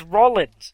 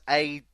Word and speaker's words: Rollins: You emphasise the roll bit. Well, it is Rollins. Rollins. It's Rollins. No, because that's Rawlins.